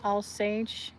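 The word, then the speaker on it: Alsace: because she's from the I think it's pronounced All Sage area that's kind of sometimes German and sometimes France.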